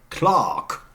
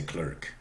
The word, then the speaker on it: clerk: example Clark I mean a Brit would say Clark okay an American would certainly say clerk a spelling pronunciation but Brits would say Clark Clark the same is true